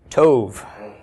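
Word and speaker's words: טוב: by a bait with no doggish have we pronounce this the tape makes sound of T right Tove Coulomb is long o Tove yes toad means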